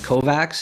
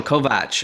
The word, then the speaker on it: Kovacs: i'm joined today with christina is it pronounced kovacs is that how you pronounce it oh kovach okay so it's a true sound okay cool